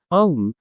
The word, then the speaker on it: Om: will become a um which is pronounced om om which is a sacred